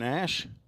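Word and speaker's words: Ashe: I think their PA announcer down there was calling him Ashy, and I asked him, is that the correct pronunciation? And he said, I don't know. It's got an E at the end of it. So I said, oh, okay. I'm going to call him Ash, A-S-H-E.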